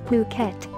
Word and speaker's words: Phuket: The beautiful, tropical island of Phuket, fortunately pronounced as Phuket, is frequently and justifiably referred to as the Pearl of the Andaman Sea and is the largest island in Thailand.